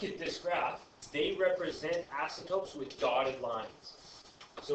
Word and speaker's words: asymptote: You get something called an asymptote. What? Yeah, asymptote. So I think it's spelled out here for you, right here.